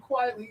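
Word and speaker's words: Quitely: Unfortunately, it's spelled quickly, but I've been informed that it's quiet. Frank Quietly, you learn to cover.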